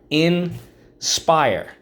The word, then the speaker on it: inspire: inspire in spire inspire first syllable in second syllable spire inspire so we have two things to mark up how do we mark this up underline the i and the silent e twice draw an arrow back why you got it because in this case the silent e makes the eye say i okay